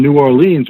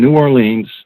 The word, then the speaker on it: New Orleans: somewhere around tulane in new orleans or new orleans this is the right way to pronounce it and all of a